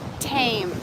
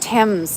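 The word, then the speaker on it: Thames: this is the river tame uh she my friend Carol said I keep pronouncing it wrong I think she pronounced it Tim's Tim's something like that anyways t-h-a-m-e-s the famous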